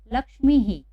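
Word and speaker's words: लक्ष्मीः: लक्ष्मी, अब यहाँ बड़ी ई की मात्रा है तो यहाँ पर उच्चारण भी ही का ही होगा, लक्ष्मी ही।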